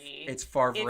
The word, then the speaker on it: Favre: Does anybody just ever really noticed that the name Favre is spelled Favre? It's Favre. It's Favre. Favre. Right? It's from the French.